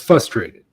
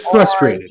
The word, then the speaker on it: frustrated: there is an R. It's No, okay, so it is frustrated. R-U. Yeah. Yeah, see, I always said it frustrated, and even when I spell it, I leave the R out.